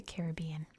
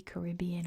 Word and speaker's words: Caribbean: the pirates of the Caribbean. By the way, at least in American English, it can be Caribbean or Caribbean. Both pronunciations are perfectly fine.